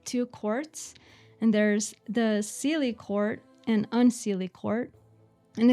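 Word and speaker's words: Seelie: courts and there's the cely court and unse court and it's spelled s e l IE not silly as you would think um and basically the um sely they are playful benevolent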